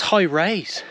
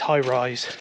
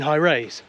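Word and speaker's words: High Raise: s e so I thought okay that's high rays and then I was corrected by a local no no it's highrise well he didn't say it like that he was actually no you mean high rise no sorry high rise you mean high rise yes high rise but why is it spelled weird wow man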